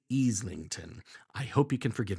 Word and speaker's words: Islington: It's not Islington, it's Islington.